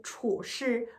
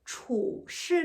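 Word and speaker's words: 处事: 性情 성격, 态度 태도, 和处事处事 는 추라고 읽으시면 안 돼요. 추, 쌀성이에요.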